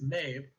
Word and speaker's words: Maeve: not- As far as I know, it's Maeve, as in the which is very close to Mab if you like Shakespeare.